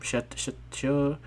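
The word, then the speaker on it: Shutoku: How do you pronounce his name? Shitoku.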